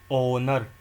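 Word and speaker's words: honor: आर इसमें H silent है। जिन words के अंदर एच साइलेंट है उसके अंदर एन आएगा। Because H इज़ एच is silent here. It start with A vowel sound. ऑनर ऑनरेबल honest honesty are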